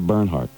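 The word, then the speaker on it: Bernhard: Her name is Sandra Burnernhard. But you've been drinking and hitting the sauce for so long. You You're so unaware of culture that you Sandra Barnhard.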